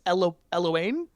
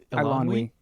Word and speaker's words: Eilonwy: I'm talking myself into some good points here, because even, and I'm going to mispronounce her name, the Princess Eloane? Eilonwy.